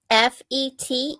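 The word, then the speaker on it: fête: I don't know what that f is. Fet national. It's like ted a tet. So, fet. It literally sounds like it's spelled, which is rare for French.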